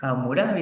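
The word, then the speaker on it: Hammurabi: amurabi el código de hamurabi profesor yo he escuchado que le dicen hamurabi así como una jotita también se puede jóvenes no se me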